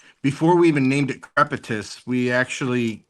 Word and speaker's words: Crepitus: Crepitus.